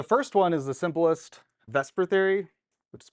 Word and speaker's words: VSEPR: theories so the first one is the simplest Vesper Theory which is pronounced Vesper even though it's vs which would be like